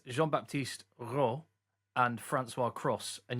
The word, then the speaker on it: Cros: I found out, by the way, Joe, why it's Jean-Baptiste Roux and Francois Cross, and you pronounce the S on that.